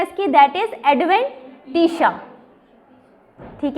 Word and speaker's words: adventitia: Intima, second is media, third is दी एडवेंटिशा। शिया नहीं कहना, एडवेंटिशा, ठीक है। प्रोनाउंसिएशन देखना है इसकी, दैट इज एडवेंटिशा, ठीक है।